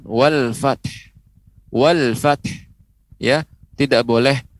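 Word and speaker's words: وَالْفَتْحُ: Wal fath ya, tidak boleh wal fath hilang huruf haknya, haknya hilang, atau pengucapannya wal fath ya, itu juga keliru ya, kurang tepat. Pengucapannya wal fath, kemudian kita berikan huruf h-nya ya, wal fath ya, demikian.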